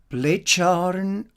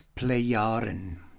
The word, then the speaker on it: Plejaren: page here is the play iron that's not play charm or anything like this play yarn and on the one hand is the name